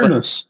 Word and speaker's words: fornos: Significa que é quando você tem uma palavra que no singular a pronúncia dela é fechada e quando você coloca essa palavra no plural, ela é pronunciada de maneira aberta.